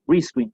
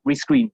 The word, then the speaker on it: rescreen: O sea, la sílaba que tengo que enfatizar es la primera, rescreen, ¿sí? Nunca rescreen, porque eso suena distinto, es levemente distinto, pero es distinto.